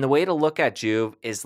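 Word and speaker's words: Joovv: And the way to look at Juve is like a light supplement.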